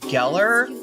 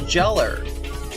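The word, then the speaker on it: Gellar: Um, I feel like most people think that it is pronounced Geller, like Sarah Michelle Geller, but it's actually a mistake. All right. I don't usually make a big deal about it, but you know, since I've got my uh second channel, I might as well tell you how it's pronounced. It's pronounced jeller.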